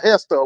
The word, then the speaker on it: Gesta: forget do ucio gesta Hester whatever how it spelled g s o oh g s a but I think it's it's pronounced Hester um but he pulled